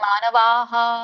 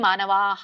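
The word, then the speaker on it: ಮಾನವಾಃ: ತೇತೆ ಮುಚ್ಚಂತೇತೇಪಿ ಕರ್ಮಭಿ ಕರ್ಮಬಿಹಿ ವಿಸರ್ಗ ಹೇಳಬೇಕಲ್ಲ ಬಿಹಿ ಕರ್ಮಭಿ ಅಲ್ಲಿ ಮಾನವಾಹ ವಿಸರ್ಗ ಇದೆ ಹ ಹೇಳಬೇಕು ಮಾನವಾಹ ಕರ್ಮಬಿಹಿ ಬಿ ಇದೆಯಲ್ಲ ಅದಕ್ಕೆ ಬಕೆ ಈ ಸ್ವರ ಕೂಡಿದೆ ಬಿ ಆಗಿದೆ ಹಾಗಾಗಿ ವಿಸರ್ಗ ಕೂಡ ಹೀನೇ ಹೇಳಬೇಕು ಅಂದ್ರೆ ಈ ಸ್ವರನೇ ಹೇಳಬೇಕು ಕರ್ಮಬಿಹಿ ಅಲ್ಲಿ ಅ ಕೂಡಿದೆ ಹಾಗಾಗಿ ಮಾನವಾಹ ಅಂತ ಹೇಳ್ತೇವೆ ಹ ಹೇಳ್ತೇವೆ ಥ್ಯಾಂಕ್ಯು ಹರೇ ಕೃಷ್ಣ ಶ್ಲೋಕ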